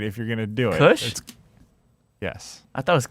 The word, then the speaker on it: Koosh: Koosh. No, you gotta fucking pronounce the word right if you're gonna do it. Kush?